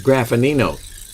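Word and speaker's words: Graffagnino: graffinino it's g-r-a-f-f-a-g-n-i-n-o and that g is silent in the middle well you know what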